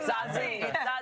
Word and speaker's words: Zazie: Zazie. Phonetically spelled.